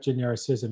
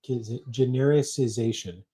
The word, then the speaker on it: genericization: It's not genericism. It's generic genericization.